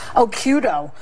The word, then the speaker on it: Occhiuto: I had mine because my original Italian-American name was too hard to pronounce. Occhiuto.